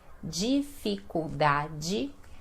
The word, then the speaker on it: dificuldade: as pessoas também sentem dificuldade de respirar dificuldade lembrando o som aqui do d né com i que nós falamos de e d com